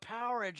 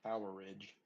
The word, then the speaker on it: Powerage: I forgot about Powerage. Oh my god. Uh, why do you say like a power? Like you're talking like fridge. Poweridge. That's how it's pronounced.